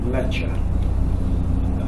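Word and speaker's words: Mleccha: civilization was known as lecha m-l-e-c-c-h-a leche you can hear that hear the name in there mecca in there lecha is the modern way of pronouncing it's the more periodized or indo-european way of pronouncing a very old name the people of that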